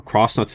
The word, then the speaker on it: X-Nauts: the leader of the X-Nauts or Cross-Nots if you want to pronounce it that way, chasing the same stars.